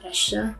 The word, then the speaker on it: Estea: and he is more known as estea it's pronounced as isha and he wanted me to emphasize on that now you know estia